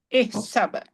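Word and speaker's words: احسب: dibacanya Ihsab. Isab. ihsab ya. Tuh. Huruf alif tanpa harokat ya. Tapi Ya. dibaca ihsab. Bu Saisyah.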